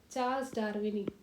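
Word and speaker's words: charlesdarwini: इसका scientific name है मिनरवारिया चार्ल्स डार्विनी। चार्ल्स डार्विन में आई जोड़ दो, चार्ल्स डार्विनी, डार्विनी, मिनरवारिया।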